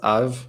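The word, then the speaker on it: אב: Okay, but the second word is pronounced av, like you were saying, and so usually with these letters where it can either be a soft or a hard sound, if it's closing a syllable, so av is one syllable, av. If it closes the syllable, it's usually the softer sound. Okay. So you think of harder sounds in the middle of Hebrew words and softer sounds at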